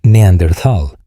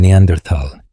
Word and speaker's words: Neandertal: con la fricativa como Neanderthal. Sin embargo, esta última pronunciación no tiene base en la palabra alemana original, que siempre se pronuncia con una T independientemente de la ortografía.